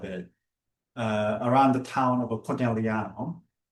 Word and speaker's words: Conegliano: the center of it, around the town of Conegliano, Valdobbiadene, this is how it's pronounced, is where we are. Conegliano, Valdobbiadene.